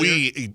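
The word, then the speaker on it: oui: Because when I said we, you didn't know that it's spelled O-U-I.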